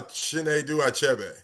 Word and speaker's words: Chinedu Achebe: Uh, Chen Du Abe.